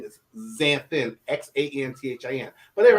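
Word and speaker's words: Xanthin: my official name is xanthan x-a-n-t-h-i-n but they're right it will cost me zen for sure and instead of because the x is pronounced as a z so we just say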